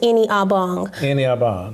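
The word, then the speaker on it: Ini-Obong: mess it up um my first name is pronounced any obong yes sir but they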